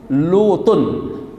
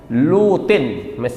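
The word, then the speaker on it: لُوطٍ: E dari cara baca di sini sebenarnya ini lutun ya. Lutin mestinya begitu. Lutin ya. Kalau lutin berarti nun mati ketemu dengan lam mati kagak bisa dibaca ya kan?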